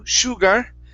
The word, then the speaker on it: sugar: one here is sugar instead of sh sugar sh sugar sugar sugar that's it good good